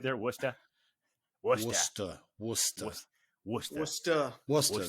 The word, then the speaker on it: Worcester: go uh but uh usually when i used to get the bus at port authority you know the girl behind the counter or the guy would be like uh where do you want to go warchief sister war sister it's spelled warcester like